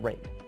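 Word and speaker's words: RAID: those letters and yes I know it's pronounced rate so there you have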